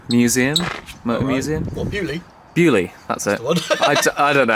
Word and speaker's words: Beaulieu: Bewley, that's it.